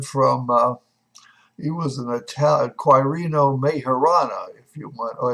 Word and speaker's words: Quirino Majorana: There is a gentleman from, he was an Italian, Quirino Majorana, if you want, or it's Quirino Majorana, if you want to pronounce it correctly.